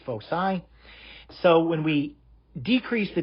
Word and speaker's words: foci: is foci you might hear some people say folk i but that's really not the correct pronunciation it's foci so when we decrease the distance eventually the